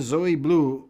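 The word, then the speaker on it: Zoë Bleu: Blue Zoe Blue. Is that how I pronounce her name?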